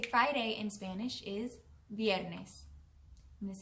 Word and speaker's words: viernes: The way to say Friday in Spanish is viernes. I'm going to say it one more time. Viernes. All right, it's your turn. Muy bien. Viernes is spelled V-I-E-R-N-E-S. Viernes.